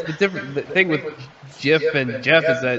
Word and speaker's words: GIF: creator of the dot get files said it's pronounced jif not gif no he's an idiot well he created it